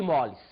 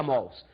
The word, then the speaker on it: mols: é o número de moles você vai ver que hoje em dia os professores falam número de mols nós antigos ainda falamos número de moles dizem que agora a pronúncia correta seria mols mas representa fisicamente para nós